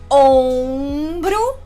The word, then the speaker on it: ombro: O som de on já não tem sorriso, ó. On. Ele vai aparecer com o com o tio, OM ou ON. Exemplos: aviões. O sorriso só veio depois, né? No O eu não sorri. Aviões. Ombro, O-M, ombro, e honra, O-N, honra.